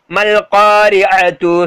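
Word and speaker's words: ما القارعة: மால் காரியான்னு வாசிக்கூடாது, மல் காரியா, அதாவது விளங்குதா? அந்த அந்த சேர்க்கக்கூடிய எழுத்து இருக்கு பாத்தீங்களா, ப்ரொனவுன்ஸ் பண்ணக்கூடிய எழுத்துக்கு வந்து சேர்த்துடணும், சேர்த்தோன்னா பக்கத்துல இருக்கிற அலிஃப் எல்லாம் சைலண்ட் ஆயிரும். மல் காரியத்து சொல்லுங்க, மால் காரியத்துன்னு வாசிக்க கூடாது, விளங்குதா?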